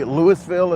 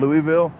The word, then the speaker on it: Louisville: I say Lewisville as well instead of Louisville.